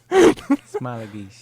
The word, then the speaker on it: Smailagić: Smailagić.